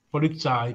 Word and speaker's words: Polizei: nostro amico ah polizei polizai Eh no sardo però eh polizai Senti qua che che roba Tesco io polii scritto polizei si legge polizai ma non fa niente